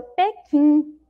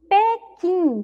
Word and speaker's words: Pequim: Olha lá mais um exemplo que a Pro trouxe, ó, Pequim, Pequim, Pequim também nós não ouvimos ali o som do U.